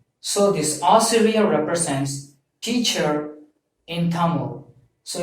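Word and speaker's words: ஆசிரியர்: a teacher in some schools, your profession is Asiriyar, A-A-S-I-R-I-Y-A-R, Asiri, Y-A-R, Yar, Asiriyar. So this Asiriyar represents teacher in Tamil. So if your profession is a teacher, you have to pronounce this as Asiriyar, A-A-S-I-R-I-Y-A-R.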